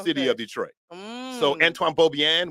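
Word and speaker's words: Beaubien: of Detroit so Antoine beaubian we say bobian these are slave owners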